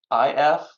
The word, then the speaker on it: Hafif: You can Google Half Foundation, and that's Hafif. Don't ask me. My dad died. Dad's died when he was 6. Never explained why we mispronounced it half instead of Hafif.